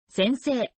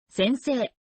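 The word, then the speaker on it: 先生: In writing, it seems to pronounce as せんせいせんせい but some sounds link together. せんせい The pronunciation is like 先生先生 Here are some examples of occupations.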